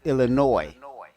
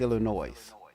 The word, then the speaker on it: Illinois: Just people say it so fast that it sounds like it's just Illinois, but it's that's that's not the correct pronunciation. It's Illinois.